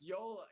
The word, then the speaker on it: Yola: say Jula y yeah it's Yola Yola it's it's a little interesting pronunciation getting you go on